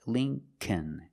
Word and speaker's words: Lincoln: The second L is silent, so it's Lincoln, Lincoln.